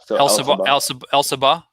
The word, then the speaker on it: Elsabbagh: name al Sabbagh so you can say the G H is silent l Saba yeah all right Elsa